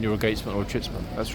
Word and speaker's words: Chitsman: And that question is, what is a chitsman? Okay, let me spell it: C-H-I-T-S-M-A-N.